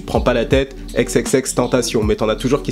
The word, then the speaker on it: XXXTentacion: Or, en fait, c'est exactement comme ça qu'on le dit. Tu regardes n'importe quelle vidéo, il t'explique qu'il faut le dire de la façon latine, donc en fait, française, tu vois.